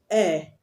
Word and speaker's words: heir: Air, HEIR, the H is silent.